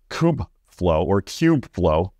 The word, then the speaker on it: Kubeflow: And with Kubeflow, like KubeCon, as I've been pronouncing it wrong for like years now.